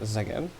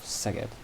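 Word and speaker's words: Szeged: uh first stop uh first of all it's not uh zagen it's more of seget and in be the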